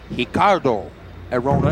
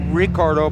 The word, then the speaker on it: Ricardo: He is Ricardo Arona, and it's actually spelled Ricardo, but the Brazilians pronounce that R with an H sound.